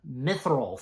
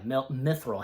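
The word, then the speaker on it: mithril: milth um let me how do how's it pronounced again uh mithil thank you yeah mithil I had to pull it up again mithil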